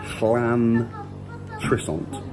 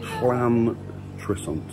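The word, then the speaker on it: Llantrisant: It's double L, so it's Llan Trissant. Is that right? Is it Trissant, Hazel? Llan Trissant.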